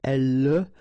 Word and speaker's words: elle: And then the last thing here that you will hear is the l. Okay? So, here is not pronounced, and it's not pronounced here. You don't say elle, but then you say elle. Elle parle.